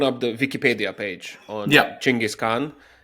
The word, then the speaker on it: Chinggis Khan: I of course mentioned Genghis Khan, which apparently is not how we say his name at all. So why don't we start there? Yes. So in fact, his name is Chinggis Khan.